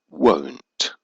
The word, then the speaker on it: won't: In the negative form, the negative of will can be will not, or, more commonly, won't. Notice the pronunciation is won't.